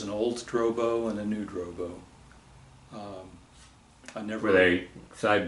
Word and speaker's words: New Drobo: The town I lived in was called New Drobo. Spell that, please. N-E-W-D-R-O-B-O, New Drobo.